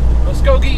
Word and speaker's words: Muskogee: Muskogee, apparently how you pronounce it, according to my GPS.